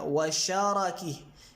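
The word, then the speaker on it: وشَرَكِه: بھی پڑھا گیا ہے ان دونوں کو فتحہ دے کے، یعنی شین اور را دونوں پہ فتحہ ڈال دیں تو کیا بن گیا، وشارکی، شرکی وشارکی، تو دو تلفظ ہو گئے۔ شرک کا معنی تو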